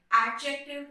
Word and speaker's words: adjective: Whenever there will be D and J together, it's a thumb rule of this language that you won't pronounce D. The more examples are the word adjacent, the word adjective, adjourn. So you will try to skip D into it. D, you cannot pronounce D and J like D and J like adjective or adjacent or adjourn.